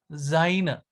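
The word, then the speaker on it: sein: the equivalent of B Zine Zine has three different forms bin best Easter the combination of e and I is I foreign so now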